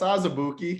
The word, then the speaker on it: Azubuike: JT, you might not have pronounced his name, but Kansas. Like, that's Azubuike, Kansas.